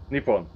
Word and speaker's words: Nippon: you know do you know how it's actually pronounced no nippon like it's not even japan in the country